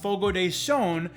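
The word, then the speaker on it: Fogo de Chão: is so so funny so we went to fogo de shone for dinner side note yes it's pronounced fogo day shone i always thought i was focused i mean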